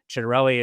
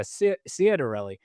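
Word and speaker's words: Ciattarelli: classic Italian name, even pronounces it uh as someone who is Italian would pronounce it with the ch instead of a cedarelli.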